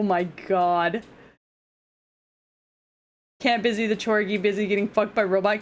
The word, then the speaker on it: Chorgy: I like how I'm pronouncing it Chorgy, like Corgi, instead of Chorgy, like orgy.